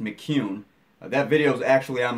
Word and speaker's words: McKeon: Sean McCune, it is not McKeon, and I have said that wrong more than a few times on this podcast, but Sean clarified for us the other night. It's pronounced McCune.